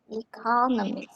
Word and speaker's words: economy: the word um economy so where is the accent on economy economy economy the second syllable second syllable economist economist second